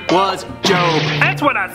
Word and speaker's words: Job: I think it's pronounced Job. No, it's Job. Job. Job. Say it with me, Job. Jarb.